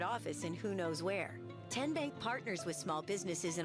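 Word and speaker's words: TN Bank: How do you say the name Ken Bank? Nope. Tin Bank. Uh-uh. So, what is it? Tenbank. 10 as in Tennessee.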